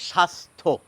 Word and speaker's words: স্বাস্থ্য: কি কি বৈশিষ্ট্য দাঁড়ালো শব্দের শুরুতে থাকলে আমরা ব এর উচ্চারণ করি না মাঝে থাকলে যার সঙ্গে